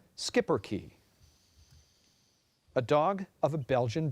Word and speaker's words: Schipperke: Schipperke. Language of origin, please. This word is from a Dutch word that went into Flemish. Are there any other pronunciations? Yes, there are. Schipperke. The alternate is Skipperke.